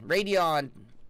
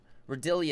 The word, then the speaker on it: Radeon: my cousin Vinnie Radeon Radeon not readily and Radeon thank you thank you